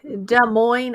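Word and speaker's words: Des Moines: There's no There is an S, but you don't say it. It's silent. It's kind of like De Moine, Iowa, for example.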